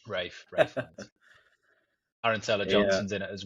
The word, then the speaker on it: Ralph Fiennes: Rafe Fiennes. Ralph Fiennes. Obviously he's a legend. Don't you dare name it wrong. Rafe Fiennes.